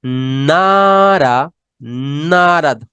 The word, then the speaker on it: not at: Esta T que vemos acá, la vamos a reemplazar por una R. Entonces va a decir, he is not at home.